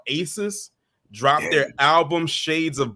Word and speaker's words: Asis: called Shades of Black by Aces. It is spelled ASIS.